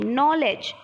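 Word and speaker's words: knowledge: ए डी जी ए नॉलेज ठीक है चलिए फिर क्या है नकल ठीक है उसके बाद है नाप सभी में क्या है के आपका साइलेंट है एक बार आप लोग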